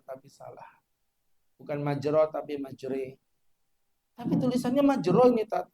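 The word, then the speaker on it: مجراها: Itu namanya imala. Imala itu miring bacaannya. Tulisannya majro tapi bacanya majre.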